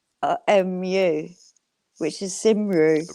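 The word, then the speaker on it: Cymru: yeah like and Wales is is Cy which is spelled c y muu which is simru right right c y r but they pronounce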